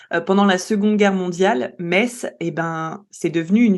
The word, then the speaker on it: Metz: vous verrez que Metz, ça s'écrit en fait M-E-T-Z, donc on a tendance à le prononcer Metz Ouais, et moi je fais l'erreur, je historiquement dis Metz.